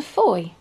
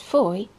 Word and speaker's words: Fowey: saying toaster welcome to Foy pronounced Foy to rhyme with joy the town is at